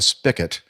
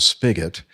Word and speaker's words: spigot: spigot now a spigot which is and not pronounced correctly by a lot of young people here in this country it's not a spigot it's a spigot and but that usually has something to do